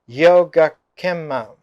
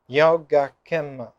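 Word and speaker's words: yogakkhema: Word for this starts with familiar word yoga, yoga, but it's pronounced in Sanskrit Yogakkema. Yogakkema.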